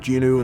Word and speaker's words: Jinwoo: And yes, it is pronounced Jinwoo in the English dub for my sub-only people.